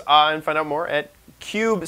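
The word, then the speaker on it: Kub: So Cube Systems, and find out more at Cube, spelled with a K. K-U-B. Cube.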